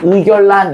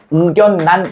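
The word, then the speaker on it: 의견란: 원래는 의결란 이렇게 해야 돼. 그런데 아닙니다. 왜? 둘 다 뭐니까? 한자어기 때문에. 둘 다 한자어예요. 얘도 한자어. 얘도 한자어야. 그럼 실제로 발음할 때 어떻게 해야 돼? 우견난 이렇게 해야 돼요.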